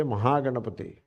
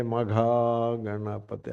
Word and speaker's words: Mahaganapathi: Like in Tamil Nadu they don't say Mahaganapathi. They say Maga Ganapathi. Ha is becoming Ga.